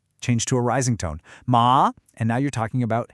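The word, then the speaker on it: 骂: Ma, and now you're talking about hemp.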